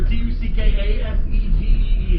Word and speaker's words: Tuckasegee: This is the Tuckasegee River, Tuckasegee. It's spelled almost the way that it sounds.